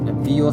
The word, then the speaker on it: Biot: আমরা আসবো এসব বিষয়, কিছু কিছু জিনিস আসবে, কিছু সূত্র আসবে অনেক গুরুত্বপূর্ণ, যেমন বায়ট স্যাভার্টের সূত্র, বিও স্যাভার্ট বলে বা বায়ট স্যাভার্ট বলে, যে হোক স্পেলিং মানে